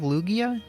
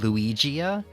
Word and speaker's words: Lugia: ] by the way have you heard of Lugia when I was a kid I actually didn't know how to pronounce it so I called him luigia it said that the Pokemon once uh said